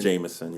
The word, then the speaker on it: JMSN: Anything that's like that, because Quiet as Kept, I don't know how you pronounce it, but it's Jameson or JMSN. Jameson, yeah.